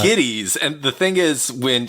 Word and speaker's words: Gittes: Jake Gittes or Giddies, pronounced either way in both movies, so I'm not sure. Well, it's Giddies, and the thing is, when Houston in the first one keeps purposely mispronouncing his name.